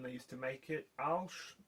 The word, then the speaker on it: Arches: used to make it, Alsh, which is spelt Arches, is cotton, Winsor & Newton Artist's Watercolour paper, I think is wood.